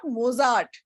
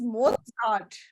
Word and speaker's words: Mozart: tell you okay and it is not Mozart it is more thought the pronunciation okay the pronunciation of it doesn't have a t in it but the pronunciation has